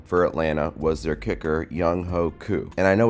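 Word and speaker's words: Younghoe: this game though for Atlanta was their kicker yungho coup and I know it's pronounced young way but it's spelled like yungho and you know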